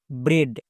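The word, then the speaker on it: bread: ডি এর জন্য কি হবে ডো তাহলে পুরোটার উচ্চারণ কি দাঁড়ালো ব্রেড বি আর ই এ ডি ব্রেড সো আমরা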